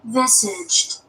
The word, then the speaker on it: visage: Visage is the French pronunciation.